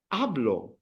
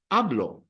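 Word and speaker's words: hablo: vowel so then you say ablo and remember that the H is silence right let's let's let's do it ablo and then anything uh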